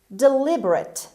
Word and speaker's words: deliberate: word number six deliberate deliberate deliberate as you see the stress is on l on the second syllable deliberate means to consider